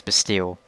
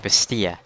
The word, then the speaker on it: Bastille: The English way to pronounce it is Bastille. Like Bastille. The French way is more like Bastille.